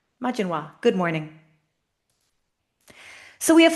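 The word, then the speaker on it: Maidin mhaith: Majininoa. Majininoa.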